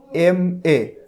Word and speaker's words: MA: দেখো এখানে উদাহরণে বলা হচ্ছে হি অর শি ইজ অ্যান MA, এখানে দেখো MA, MA উচ্চারণটা MA, প্রথমে আসতেছে এম, তাহলে শুরুতে আসতেছে